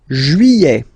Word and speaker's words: juillet: Juillet. Okay, you get this double L here. Juillet. Juillet. Don't pronounce this final T, E-T here at the end.